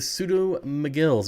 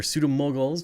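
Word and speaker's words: Pseudomugil: And it is the pseudo-mogills or pseudo-moguls, depending on how you want to pronounce it.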